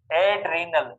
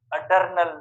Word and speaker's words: adrenal: अलग से हम देखेंगे, एड्रीनल, एड्रीनल, अडर्नल नहीं है, अडर, काफी स्टूडेंट अडर्नल प्रोनाउंसिएशन करते हैं।